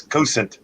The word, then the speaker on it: Cosaint: them but uh the the irish pronunciation is cousin yeah i always put